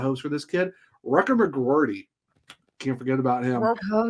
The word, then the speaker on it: McGroarty: I was going to say is McGroarty? Come on now. I know I pronounce it.